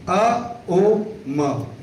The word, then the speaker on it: ओम: वाला को करते हैं ओम का जो उच्चारण होता है अ ओ म तो ये जो ओम